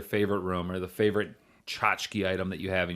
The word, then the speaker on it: tchotchke: with just saying it and then people say chachaka Jessica yeah that's what the pronunciation guide says cha cha cha chica yeah yeah but I don't like that I like tchotchke oh yeah yeah always remember where you were